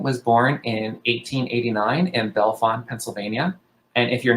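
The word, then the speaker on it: Bellefonte: lipton francis lichten was born in 1889 in belfan pennsylvania and if you're not from pennsylvania yes that is how we pronounce it i don't know why she showed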